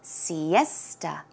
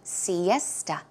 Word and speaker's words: siesta: the afternoon pronunciation is Siesta esta so it's more of a t sound Siesta one more time Siesta